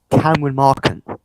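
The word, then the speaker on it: Cameron Mahkent: Yeah, it is Cameron Markant. That is how it's said, Cameron Markant.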